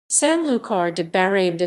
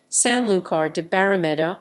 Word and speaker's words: Sanlúcar de Barrameda: Sanlúcar de Barrameda, Spanish pronunciation, Sanlúcar de Barrameda, or simply Sanlúcar, is a city in the